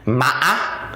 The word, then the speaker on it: mã: For example, mã, which means horse. Mã. And that's how you pronounce this tone.